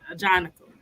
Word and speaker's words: Ajanaku: Now that I know how to pronounce his name, now I'm gonna always know how to pronounce it. Ajanaku.